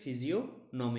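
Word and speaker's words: physiognomy: সেটাকে বলা হয় কি ফিজিওনমি, এখানে জিওর উচ্চারণটা সাইলেন্ট হবে।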